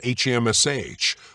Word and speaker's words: HAMSH: Many times I have explained to all of you how to work with the mantra HAMSH, pronounced HAM, silently with the inhalation, SH, vocalized aloud, exhaling like a soft sigh.